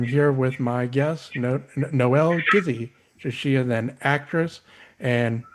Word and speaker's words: Gizzi: Do they pronounce it as Jizzy? Yes. And I don't like that.